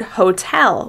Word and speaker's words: hotel: we pronounce the word hotel with stress on the second syllable. You'll notice that tell is longer, louder, and higher in pitch. Hotel.